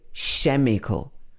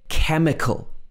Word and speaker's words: chemical: an architect also in chemical we don't say chemical it's chemical not like in a lot of other languages